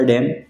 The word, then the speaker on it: damn: Have you ever been to the Narmada डैम? दूसरा word है डैम, जिसका स्पेलिंग है DAMN, जिसके मीनिंग्स है निंदा, अरे नहीं।